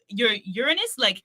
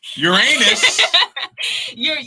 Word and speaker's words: Uranus: so I see your Uranus, yes, I'm not gonna say it like that. Uranus.